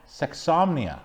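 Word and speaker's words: sexsomnia: or sodomy sexonomy insomnia sexomnia yes like insomnia but sexomnia do you know what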